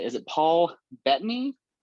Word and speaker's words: Bettany: Is it Paul Bettany?